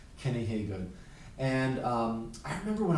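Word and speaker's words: Hagood: a singer i think his last name is pronounced uh hey good kenny haygood and um i remember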